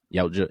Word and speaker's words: Yautja: It covers the story of a young Yautja. That's how you pronounce their race. Yautja. Yautja, yeah.